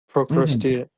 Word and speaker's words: Procrustean: mhm, Procrustean. Like that. That's also a really important point. mhm. How do you pronounce it or P spell it?